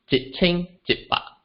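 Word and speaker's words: 一千一百: So in this case, we find that we'll pronounce it as jit ching jit pa.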